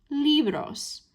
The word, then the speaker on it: libros: And so that means, again, that our spoken stress is on that first syllable, libros. That's right where we want it to fall.